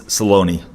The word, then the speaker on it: Saloni: Is it Sloan or is it Saloni? He's like, Saloni. He's like, but I'll take anything. So note to future Alex, it's Saloni. So there you have it.